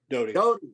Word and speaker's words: Doty: Am I saying it right, Doty or Doty? Doty. I always thought that, and somebody kept calling you Doty.